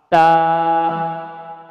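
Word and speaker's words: ت: এরপরে আমরা শিখব তা, তা, তা উচ্চারণে আমরা শিখব কোথায় থেকে? এই দুই দাঁতের উপরে মুসলার সাথে লাগাবো, আমরা মুসলার সাথে জিহ্বার আগা লাগাবো।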